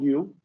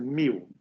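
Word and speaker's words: μ: This is not U. This is the mu.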